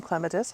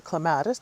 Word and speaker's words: Clematis: we're going to plant some Claus or Claus depending how you like to pronounce it I've got a couple